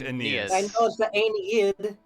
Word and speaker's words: Aeneas: if you're gonna google it also google the pronunciation it is in fact aeneas so like it's probably the abs right i'm